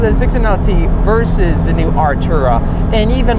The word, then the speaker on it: Artura: as of recently like the new artura i pronounced it correctly this time in my previous um first look video i completely had that one wrong i said archera i don't know why